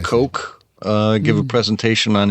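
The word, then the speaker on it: Koch: Robert give is it is it kooch or or or cotch or there's so many different pronunciations here H oh I don't know I think it's robt coke uh give a presentation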